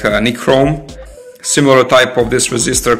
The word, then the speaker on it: nichrome: Normally, in this type of resistor, it use nickel chrome alloy. It's pronounced like nichrome.